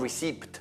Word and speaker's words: receipt: Non receipt poi, perché receipt scritto col P, you don't pronounce the P.